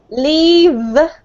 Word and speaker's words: leave: But when you say the letter V, you have to expel air, but you also have to make a sound with your throat, right?